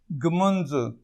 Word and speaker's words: ږمنځ: داسې ږمنځ مروت ژمنځ وایي، یا دې سیمې جنوبي اضلاع پښتانه ژمنځ وایي، اکثر نور پښتانه ږمنځ وایي.